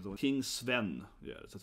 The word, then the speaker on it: Sven: But yeah, it's pronounced Sven.